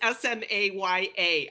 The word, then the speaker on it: Smaya: sure, it's Smaya, and I have trouble saying my own name sometimes. Oh my But gosh. think of it as Smaya. I'm a thoroughbred Czech.